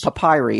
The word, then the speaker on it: papyri: Papyrus? Papyri. It's Papyri? Pap Y-R-I. I always thought that was papyrus. Ancient papyri talks about. I mean, you're listening to Walt in terms of pronunciation. Well, I'm the fucking... It's not papyrus.